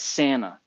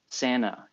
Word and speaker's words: Santa: um you know and you got to say it like that Santa Santa you know emphasized the n a kind of what is that you know just ditch the T Santa uh wish it